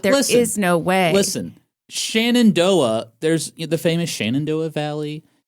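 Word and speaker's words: Shenandoah: Oh, Shannondoa. Okay, you know what? And they pronounce it as Shendo. They're wrong.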